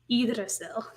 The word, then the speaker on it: Yggdrasil: Yeah, and if anyone's listening, just not seeing visual, like just auditory podcast, it's spelled Yggdrasil. Yggdrasil.